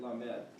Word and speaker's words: Lamed: So you pronounce it Lamed.